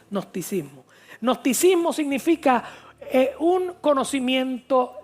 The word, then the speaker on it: gnosticismo: Se llama el nosticismo. Se escribe con g y después nosticismo.